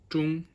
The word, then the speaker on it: 中: It's pronounced 中 with the first tone.